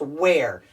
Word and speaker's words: wear: ear in it but when we put a w the ear becomes an air where I'm going to